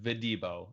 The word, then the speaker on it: Videbo: It's pronounced Videbo, so I apologize for that.